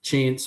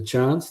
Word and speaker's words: chance: Uh Kiwis manage to put like an R into chance. So we we say it like c h a r n z chance. We stretch out the A. And the Aussies are chance.